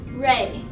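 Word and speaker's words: Rui: The correct pronunciation is Ray. So U-I sounds like A?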